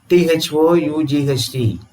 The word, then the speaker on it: thought: their G necessary there do we pronounce g in the spelling thought but when we write the spelling thought when we write the word thought can we vomit that alphabet G there no so that is the